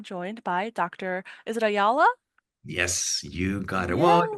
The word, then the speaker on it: Ayala: you want to pronounce it as in Spanish, you change the Y by J and you try Mm-hmm. to pronounce that. Give it a try. Ayala?